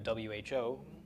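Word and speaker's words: הוא: okay this is a perfectly legitimate sentence Adam who bah okay Adam he is coming it's not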